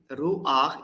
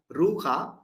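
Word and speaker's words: רוּחַ: Ruach is a gliding vowel it has, because this vowel is pronounced first, then we pronounce the consonant. So it is not ruha, but ruach.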